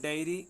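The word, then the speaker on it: dairy: फिर है डायरी और डायरी, ठीक है ना, ये है डेयरी, और ये है डायरी। ठीक है ना, ये भी स्पेलिंग ध्यान रखनी है आपको, इसका उच्चारण भी ध्यान रखना है।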